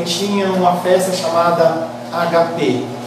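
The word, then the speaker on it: ἀγάπη: tinham uma festa chamada HP. Não é ágape, já falei para você, não é uma palavra proparoxítona, é HP. ou agape, é uma palavra grega, você não muda a pronúncia dela.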